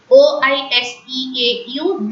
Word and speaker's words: oiseau: OISEAU. This word is already given to you as an example. Oiseau. S in between the two vowel sounds, they are pronounced as is.